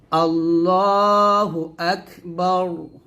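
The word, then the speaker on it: الله أكبر: বলি যদি থেমে বলি তাহলে এর রটা সাকিন হয়ে যাবে তাহলে বলতে হবে আল্লাহ আকবার জবর এরকম রকে মোটা করতে হবে মানে রটাকে মোটা করে পড়তে হবে আল্লাহু আকবার আকবার হামজা কাফের এখানে হামজা উচ্চারণ হবে আল্লাহু আকবার তারপর আবার এটা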